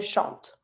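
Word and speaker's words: chantent: sing sh same thing always mute so if I'm want to say she sings or they sing same pronunciation El shant El shant then we have the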